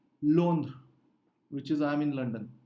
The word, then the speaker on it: Londres: Or you could say, Rohit could say, je suis à Londres, which is I'm in London.